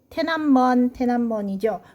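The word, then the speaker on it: 天安门: 자, 여기 둘 다 테난먼이죠. 그래서 천안문, 중국 발음으로 테난먼, 이 앞에 우리 광화문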